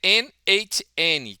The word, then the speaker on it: n8n: Eh, e a origem, né, como a gente normalmente teria que pronunciar, é NHN, que deriva do node node node node, que é a junção do nó com automação.